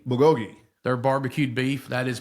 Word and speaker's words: bulgogi: How do you pronounce it? Bulgogi? Bulgogi.